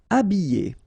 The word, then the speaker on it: habiller: Habiller. Okay, remember I, double L, and then a vowel, Y, Y. Habiller. H is not pronounced.